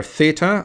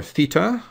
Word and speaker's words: theta: The letter theta or theta we use quite a lot, both in the lowercase and in the uppercase.